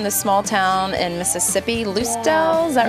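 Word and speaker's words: Lucedale: Now, you all are from the small town in Mississippi, Loosdale, is that right? Loosdale. You pronounced it right.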